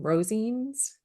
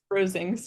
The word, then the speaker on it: Rosings: digger I loved her Mrs how do you pronounce the name Rosings Rosings yeah I loved her so much honestly so